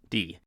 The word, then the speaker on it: Di: D. It is pronounced D, not Die.